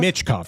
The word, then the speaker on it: Michkov: And he recently benched, and I can never pronounce the Russian kid's name, come on. Michkov? Michkov, there we go.